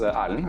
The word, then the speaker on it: Erlend: So my name is Erlend, as you pronounced correctly there.